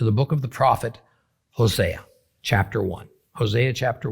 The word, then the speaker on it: Hosea: in the book of Hosea actually pronounced HOSA chapter 1 we get